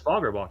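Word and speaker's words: Fagerbakke: Yeah, it's Foggerbalky. Is that so hard? Foggerbucky. Ask Snoop Dogg. True. He butchered Villeneuve's name worse than I have ever done in a million years.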